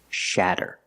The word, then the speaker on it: shatter: about this word shatter we see the letter A making the short ah sound like black cat Chad shatter to make the sound ah put the tongue down in the front behind your teeth and then up in the back ah share shatter don't do it too much not Sha sha shatter shatter is a verb